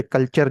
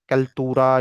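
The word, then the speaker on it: cultura: The term कल्चर originates from the Latin word कल्टूरा। कल्तूरा या कल्चूरा, मुख्तलिफ ममालक के अंदर टी को ते से भी प्रोनाउंस करते हैं, और इसके अलावा मुख्तलिफ उनकी प्रोनाउंसिएशन होती हैं।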